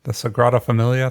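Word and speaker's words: Sagrada Família: of cairo egypt i don't know how to pronounce this one the sagrada familia the sagrada familia thank you in barcelona uh saint basil's cathedral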